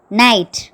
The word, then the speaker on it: knight: Second one, KNIGHT, night. இந்த வேர்டில் K silent.